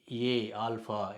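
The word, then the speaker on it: אָלֶף: ஆனால் இந்த எழுத்து உச்சரிக்கப்படாது, சைலண்ட் லெட்டர்.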